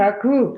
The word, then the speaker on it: Kaku: How do you pronounce his name? Kaku.